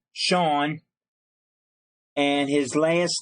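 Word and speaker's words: Shaun: Now that's spelled S-H-A-U-N, Sean, and his last name is spelled S-A-N-D, as in sand, beach sand.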